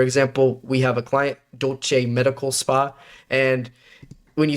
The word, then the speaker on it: Dolce: and when you say, it was just saying dos, right? Didn't know that it has to say dolce. So we would put the word right here, select, IPA for the pronunciation variable, and then I came in here, put do, se, or you could put do and then che, right?